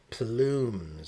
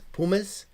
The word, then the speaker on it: Plumes: the sheet, I'm like, how do you say that? Pum. Pumis. Pumis. So, when I went into the onto the link, there is an L there. It is plumes is the name of the channel here.